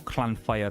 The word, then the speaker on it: Llanfair: but it starts with Llanfair. It's very long, or Llanfair as well, as how actual Welsh people pronounce it, but I'm not from fucking Wales, so I can get away with it.